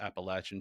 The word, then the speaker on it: Appalachian: Appalachin Trail for anyone that gets upset with my correct pronunciation of that word.